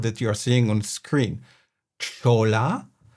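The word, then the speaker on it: cholla: Chola or maybe Choya, because as you all know, I'm a native Mexican. So I'm going to go with Choya.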